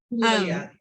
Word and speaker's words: Eulalia: Okay, if there was an opportunity for Eulalia, did I pronounce that right? I sometimes need to see it written out. Eulalia.